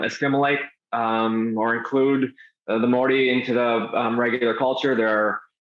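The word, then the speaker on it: Māori: Morty um population um it's tough to pronounce the word Morty um pronounce it differently a lot of times when I came over here I would pronounce it mayori that is clearly wrong um but um um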